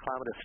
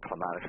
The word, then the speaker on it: Clematis: And most of the Clematis, too, or Clematis, if you prefer that pronunciation, most of them, too, they take pruning really well if you find that it has some dieback.